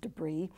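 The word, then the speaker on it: de Bry: volume the first one these are the debr also sometimes pronounced debris he was a Flemish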